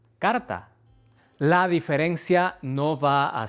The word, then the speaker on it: carta: Para estas palabras, a veces es bueno imaginar que hay una vocal extra, como car-a-ta, y después tratar de simplemente decir esa vocal extra muy rápido hasta eliminarla Cá-ra-ta. Cárata. Cárata. Cárata. Carta. Carta.